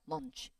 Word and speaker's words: lunch: 그러니까 얘는 뭐냐면 얘는 짧아요. lunch. 알겠죠?